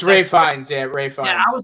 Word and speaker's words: Ralph Fiennes: johnny depp so it looks like it says ralph fiennes it's actually ray fine it's ray finds yeah i was like i thought that was